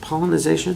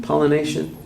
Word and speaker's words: pollination: to do pollenization or pollination pollenization pollenization is that the right way you say it pollination pollination is there there's no